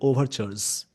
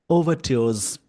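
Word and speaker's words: overtures: उसमें क्या होगा, जैसे इस वर्ड का जो प्रोनाउंसिएशन है, अमेरिकन इंग्लिश में इसको बोलते हैं ओवरचर्स, और इसको ब्रिटिश में बोलते हैं ओवरट्योर्स। अमेरिकन में ओवरचर्स और ब्रिटिश में ओवरट्योर्स।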